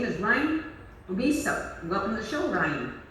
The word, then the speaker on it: Omeasoo: Yeah, it's actually, it looks more confusing when you just look at it, right? Yes, you know when I was just because like how it's spelt, it sounds Omeasoo, so people think it's Japanese, but it's actually First Nations. It's Cree. It's Cree First Nations, yeah.